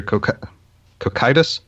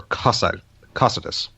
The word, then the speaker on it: Cocytus: Also, and to help, it's probably not going to help some, but it is, in fact, there are 2 ways to pronounce it, but it is either Cocytus or Cocytus.